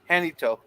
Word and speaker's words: San Jacinto: he so yeah yeah I'm not sure how you pronounce this as a jacknito or San jacquito or John San Jacinto oh wait that's Spanish yes because there's no J in Spanish hanito oh that's for yeah J is pronounced as an H right gorilla yeah yeah